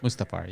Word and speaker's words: Mustafar: Is that how it's pronounced? Mustafar, yeah.